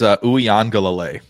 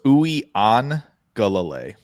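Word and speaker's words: Uiagalelei: got you say it it's OU angal OU so it's oui on galal OU on gal I just gonna call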